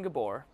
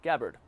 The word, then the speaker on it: Gabbard: joke so JC's so your loving your loving Gabor did I say her name in the candidate tulsi gabbard yeah gabbard well I'm sorry yeah what do you think